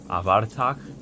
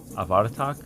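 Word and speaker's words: Abhartach: I looked it up and I think it's pronounced like Avatar. Avatar, I think. Pretty sure.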